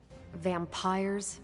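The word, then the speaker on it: Vampyres: Vampires with a Y? Pronounced exactly the same as vampires.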